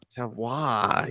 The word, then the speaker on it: Savoy: What how did you pronounce Savoy. Savoy.